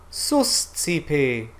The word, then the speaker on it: Suscipe: Suscipe. Suscipe. Okay, so how did we get there? So let's break up this word. So the first syllable is sus. Sus. Sus. Susci. Susci.